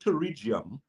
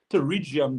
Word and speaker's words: pterygium: there's an eye condition called pterygium um which is actually spelled with a p but it's a growth